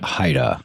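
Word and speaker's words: HIDTA: Trafficking Area, better known as is, am I pronouncing it right? HIDA or just HIDA is better. We affectionately call it Haida. Haida.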